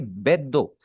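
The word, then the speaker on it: ベッド: जैसे यहाँ पर इसे हम बेदो नहीं पढ़ेंगे, इसे हम पढ़ेंगे बेदो। ऐसे पढ़ें जैसे हमारा जो डी है ना, डी के ऊपर एक शब्द लगी हुई है बेदो।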